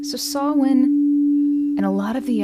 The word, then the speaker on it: Samhain: or the Celtic holiday festival that looks like Sam Hayne pronounced sawin so sawin and a lot of the other very Earthly